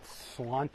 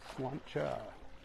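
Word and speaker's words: sláinte: free sign I guess lot of people call it slant no no no no no slanta go to Ireland you'll learn how to say it oh man they just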